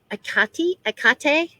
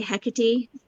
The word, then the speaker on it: Hecate: Um Yeah, I know uh most people I think say Hecate, but huh. I don't Um know. I was talking to Catherine Soros, though, who's from Greece, and she pronounces it Akate. It's like the H is silent. Akate.